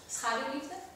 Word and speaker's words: Schaduwliefde: And in the Dutch title, Shadow Love, how do you pronounce it in Dutch? Schaduwliefde.